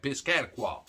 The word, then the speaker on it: Piscataqua: hampshire and maine and all that but anyway piscataqua that's actually the way it's pronounced even though i'm from arkansas i know